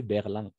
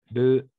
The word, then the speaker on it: Berlin: On va prononcer Berlin. En effet, on écrit B-E-R-L-I-N, mais on va prononcer Berlin.